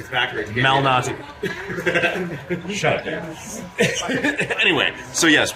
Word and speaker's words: Malnati: It's Nobody can pronounce it. It's right there. Lou, like Lewis, Malnati.